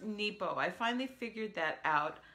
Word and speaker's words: Nepo: book of awakening by Mark Nebo it is pronounced Nebo I finally figured that out I was listening to a a video thing this morning by dr.